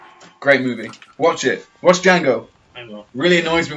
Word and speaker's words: Django: Watch Django. I will. Really annoys me when people say Django. Because there's a silent D. The D is silent.